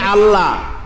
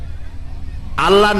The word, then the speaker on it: আল্লাহ: বলি লক্ষ্য করতেছেন আমি কি বলতেছি যদি বলি আল্লাহ তাহলে এটা অশুদ্ধ আল্লাহর নামটা হচ্ছে আল্লাহ বলতে গিয়ে মুখটা গোল হয়ে